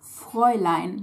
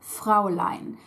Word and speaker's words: Fräulein: First of all, before I get started on the usage, one note, it's Fräulein, not Fraulein. It does derive from Frau, but it is spelled with an ä, not with an a.